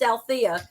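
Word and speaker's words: Aletha: right isn't it funny I have a silent E my name so all y'all you see it's a l e t h EA but it's pronounced ala there's that silent E I just think it's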